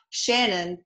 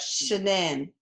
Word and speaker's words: Shanann: on your birth certificate and you wanted it pronounced not Shannon but Shannon right well she was she I called her